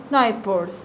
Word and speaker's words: neighbors: هنا هاني and هانا have عندهم new neighbors. neighbors يعني ال h g وال h هنا silent.